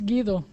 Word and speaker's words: Guido: pronouncing your name properly is it Guido or well in Spanish is gido gido okay gido and I